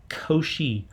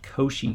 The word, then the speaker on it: Cauchy: reasonably easy to deal with it's called a koshi prior so c-a-u-c-h-y is pronounced koshi koshi was a mathematician in the 1800's who